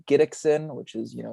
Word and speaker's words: Gidicson: g i d i c s i n gidexin which is you know it's kind of a hard name to pronounce so that's probably the best platform um